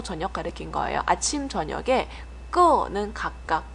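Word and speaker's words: 各: 아침, 저녁에 끄는 각각, 끄 사성으로 주의, 끄 이스 하면 각각 한 번.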